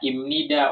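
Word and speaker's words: 입니다: oke Opa Jelaskan lagi kenapa dibacanya imnida OP ya karena huruf P ketemu dengan n maka dibacanya m tuh ketemu dengan n maka dibacanya m tuh Ya ini ini ketemu dibacanya m Jadi dibacanya imnida ya dibacanya Im imnida jadi dalam bahasa Korea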